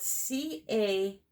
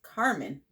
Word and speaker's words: Carmine: Alrighty, now I'm going to do a little bit of the Carmine. It's funny. A name spelled C-A-R-M-I-N-E, I would call Carmine. But I've been told the proper way to pronounce it is Carmen.